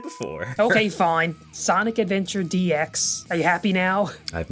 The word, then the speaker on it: DX: Today we're playing Sonic Adventure Dick. That's not how that's pronounced. Sonic Adventure Dicks. That's the same thing said before. Okay, fine. Sonic Adventure DX.